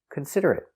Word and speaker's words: considerate: the pronunciation pronunciation considerate cons cons D consider consider consider consider consider consider consider consider consider it consider it consider it four syllables the stress is on the second syllable consider it consider it